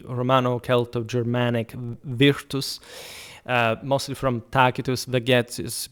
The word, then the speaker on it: Vegetius: I also made a video back in the day about the Romano-Celto-Germanic virtus, mostly from Tacitus, Vegetius, but Vegetius, if you prefer the ecclesiastical pronunciation for later antiquity, but also describing the